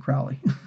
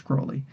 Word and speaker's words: Crowley: Um, Ozzy Osbourne pronounced it Crowley. It's not Crowley. it's Crowley.